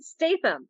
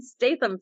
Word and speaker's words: Statham: St Stam thank you I always say his last name wrong Jason Stam I'm a huge Jason Statham fan you know I